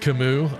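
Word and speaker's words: Camus: bored here remember Camas is pronounced Kimu I know I just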